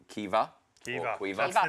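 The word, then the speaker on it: Caoimhe: But the first name, Caumhí, is pronounced Kiva. Kiva.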